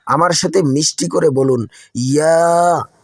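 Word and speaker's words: ياء: ক্লাসের মতো জিম এবং শিনের মতো করেই এটি উচ্চারণ হয়। আমার সাথে মিষ্টি করে বলুন ইয়া। ইয়া।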